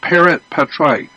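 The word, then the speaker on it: parens patriae: I don't know exactly how to spell it, but it's pronounced parent patriae.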